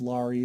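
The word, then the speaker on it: Larys: just as varys is his name is laurie so it rhymes with far east um and so the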